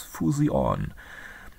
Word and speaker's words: Fusion: The festival name is often depicted in Cyrillic letters as Fusion, but pronounced like the English word fusion.